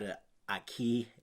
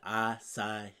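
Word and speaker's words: açaí: a no it's not a Ikey it's not a I side it's an acai bow all right it's a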